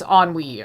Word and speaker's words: Ennui: enwy goes and like was i pronouncing it anew this whole time i swear it's on we i know it's on